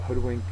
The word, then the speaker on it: hoodwink: word is Hoodwink uh Hoodwink is a verb the first syllable is accented it is to mislead